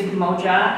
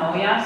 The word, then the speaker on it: moja: the last time he performed it we actually pronounced it wrong it is moja and not Moya so apologies to my current ninth graders and